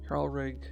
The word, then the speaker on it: Halrig: I'm gonna take out this J here, just because it makes it very awkward to pronounce for people who aren't like particularly like well versed in pronouncing like Nordic names.